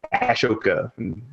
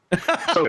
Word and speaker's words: Ahsoka: So I almost said Ashoka. Ahsoka Tano.